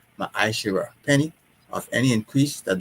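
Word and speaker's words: מעשר: And it means tenth in the Hebrew, and it's pronounced ma'ashira, penny of any increase that the Lord gives you, give to the treasury department or teacher.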